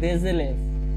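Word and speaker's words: des élèves: উচ্চারণটা কি জানি, এলএফ এলএফ, কিন্তু দে এর সাথে দেজেলেভ, দেজেলেভ প্লুরাল, দেজেলেভ।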